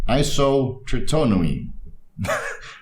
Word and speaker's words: isotretinoin: So that is the pronunciation of Accutane's active pharmaceutical ingredient. Let's try it again one more time. Isotretinoin.